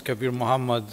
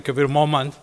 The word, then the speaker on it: Kabir Muhammad: You know, I was always, when I go to these events anywhere else, it comes Kabir Muhammad, and I say, okay, but they don't pronounce it, but it's actually Kabir Muhammad.